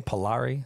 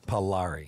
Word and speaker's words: Pillari: Pillari. Yeah, Pillari.